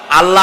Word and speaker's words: আল্লাহ: আল্লাহ বলেন তো আল্লাহ নয় কিন্তু আল্লাহ হচ্ছে অশুদ্ধ শুদ্ধ হচ্ছে আল্লাহ বলার সময় মুখটা গোল হয়ে যাবে বলেন তো সবাই উচ্চারণ